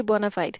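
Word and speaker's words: bona fide: Next हमारे पास है वो है जी बोनाफाइड। अच्छा, इसकी जो प्रोनाउंसिएशन है ना, इसकी प्रोनाउंसिएशन दो तीन टाइप्स की है। बोनाफाइड भी इसकी प्रोनाउंसिएशन है, करेक्ट है, और बोनाफाइडी भी इसकी प्रोनाउंसिएशन होती है, ठीक है।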